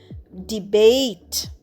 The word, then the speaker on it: debate: দেখো এখানে লাস্টে ই কিন্তু উচ্চারণ হচ্ছে না, আর এ যেটা আমাদের ভাওয়েল সাউন্ড বা স্বরবর্ণ ধ্বনি, সেটা কিন্তু একটু লম্বা উচ্চারণ হচ্ছে। ডিবেট।